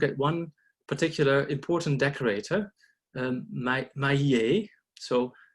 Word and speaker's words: Mahiet: So what we did is we decided to look at one particular important decorator, Mahiet. So Mahiet, you want to say if you pronounce it as it's spelled. So Mahiet, he's an illuminator at